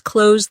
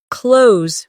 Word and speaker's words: close: As an adjective, close means near, like, "The store is close to my house." The two meanings sound different. The verb rhymes with rose, while the adjective rhymes with dose.